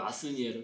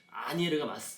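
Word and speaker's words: Asnières: 번역을 그렇게 했더라고요. 아스니에르. 근데 아니에르가 맞습니다. 뭐 저도 물론 찾아봐야 아는 거죠. 근데 프랑스 원어를 이렇게 찾아보면은 S는 묵음이라서 아니에르가 맞다.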